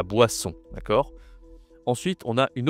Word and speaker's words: boisson: Wa. En français, ça se dit WA. Wa. J'ai fait aussi une vidéo sur les consonnes. D'accord. Là, c'est plus a. Va voir la vidéo, je te mets le lien en haut à droite de l'écran. Et le on c'est toujours la nasale on, la boisson.